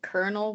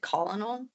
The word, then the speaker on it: colonel: When I was a kid, I didn't know that like kernel was kernel. I thought it said colinol.